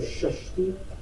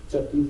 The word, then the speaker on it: Shashti: One, you know when the lady made the baby, we just say Chatti Sambarahi or Shashti. Shashti is the correct name. Chatti is a mispronunciation.